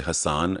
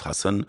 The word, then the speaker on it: Hassan: director called hsy cuz I don't like people saying my name wrong people say h they say Hassan and it's Hassan and I'm so particular